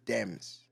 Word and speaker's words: D3mz: know like that's why there's a three in my name because in my country when you see a letter that looks like a three it's eh so it's Dems that's what that's what it's pronounced as gotcha and I need